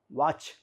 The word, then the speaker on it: watch: n t silent correct watch w a t c h t silent catch c a t